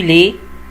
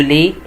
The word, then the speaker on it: lait: Le lait اللي هو اللبن. Le lait اللبن، ما بنطقش التي يا جماعة. Le lait اللبن.